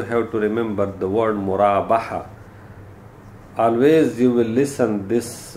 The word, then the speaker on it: Murabaha: to remember the word Murabaha. Always you will listen this, when if most of people pronounce it wrongly and they pronounce it Murahaba. Yani ha is before ba, but this is wrong.